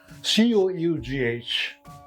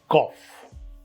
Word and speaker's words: cough: Number 1, we have C-O-U-G-H. It is cough, not cough.